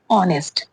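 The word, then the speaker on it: honest: नेक्स्ट है ऑनेस्ट। ऑनेस्ट एच ओ एन इ एस T. Okay. यहां पे भी क्या है? साइलेंट है। एच नेक्स्ट है सेवन।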